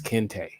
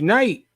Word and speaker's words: Kente: pronounce my name, and I told him my name was Kente, right? Mm-hmm. This Negro said, "Coming to the stage, Night."